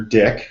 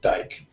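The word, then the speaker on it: Dyck: diabetic study conducted by Dr dick who is the world's foremost researcher on peripheral neuropathy I prefer to pronounce it Dyke but either way I may be pronouncing it incorrectly but um d-y-k d-y-c-k d-y-c-k okay and um he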